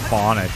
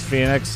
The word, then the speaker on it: Phoenix: aura as well yeah is your name Phoenix or phonics so I've been saying it wrong I do have that it is Phoenix okay I was right